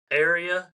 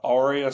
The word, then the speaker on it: Arya: Up next, um, from Game of Thrones, I hope I pronounced this right. Ara Stark. Is that how is that right? Ara. Arya.